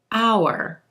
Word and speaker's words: our: But the thing is, most of the time, O-U-R in connected speech is going to reduce. It's going to sound like our house, our plans, our friends.